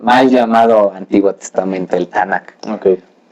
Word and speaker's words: Tanakh: Tanakh suena así. No suena a veces lo pronuncian como Tanakh, pues respetamos cualquier pronunciación, no hay problema.